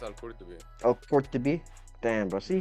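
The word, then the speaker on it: al-Qurtubi: So he says Al Kutorbi. Bro, my accent is just. Yeah, I think it's Al Qurtubi.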